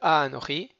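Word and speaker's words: אנכי: Asher, Anochi, Anochi, on rallonge sur le A de Anochi, parce que c'est un mot qui est millera. Il est occitan. Donc c'est la dernière syllabe qui va être musicale.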